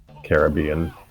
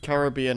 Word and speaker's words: Caribbean: how to pronounce Caribbean Caribbean okay yeah isn't it I think it's both Caribbean and Caribbean it's both but yeah I think both are correct both the franchises at